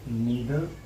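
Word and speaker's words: neither: और का यूज कर सकते हैं, या फिर नीदर नॉर का यूज कर सकते हैं। और इनके दो प्रोनाउंसिएशन होते हैं, कुछ लोग इसको ईदर और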